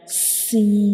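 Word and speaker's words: س: You can see this is the inner view of mouth, and when we pronounce seen, the tip of tongue rises towards the upper palate and touching the gums behind the upper two front teeth.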